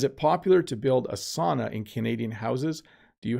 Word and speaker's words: sauna: have a sauna, or I think they say sauna, but the improper but most common pronunciation is sauna. That's how we all say it.